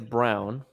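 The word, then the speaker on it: Braun: talk about is christian brawn um i love him i think it's brown brown i love by the way it's the despite the way it's spelled yeah yeah i'm gonna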